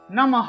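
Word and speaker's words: নমঃ: ইয় উচ্চারণ আসবে নমো নমহ এখানে দেখুন বিসর্গ আছে যেহেতু বিসর্গ আছে তাহলে পূর্ণরূপে হ উচ্চারণ হয় আমরা জানি বিসর্গ এর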